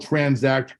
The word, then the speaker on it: Tranzact: impressed the name of our company is called transact card is spelled with a z and what we are